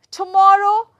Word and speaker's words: tomorrow: Now, again, if I am going to put the stress on banana, tomorrow. Now, stress on morrow, morrow.